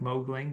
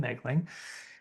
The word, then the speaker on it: Megling: My name is Megling and that's always the big reveal because it looks like Mowgling. Nobody can pronounce it including my family, but it's Megling. The O is silent.